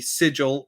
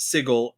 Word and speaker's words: Sigil: you were outsider but you pronounced the name of our fair city sigil not sigel and there can be